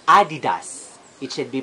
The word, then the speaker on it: adidas: ba ma next is we pronounce it adidas but the founder of the brand is Adele dustless and his neck nickname is Adi and his surname is that so it should be pronounced adidas it should be pronounced